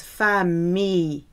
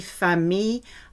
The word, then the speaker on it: famille: You have family, which is famille. Many people pronounce this incorrectly. So daughter is fille, family, famille. I double L is a E sound.